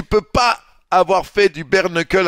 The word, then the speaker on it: bare knuckle: un suffisamment haut niveau, tu sais que ça se prononce bare knuckle, mais tu dis bar knuckle parce qu'à un moment donné, que tout le monde allait se faire foutre, tu sais.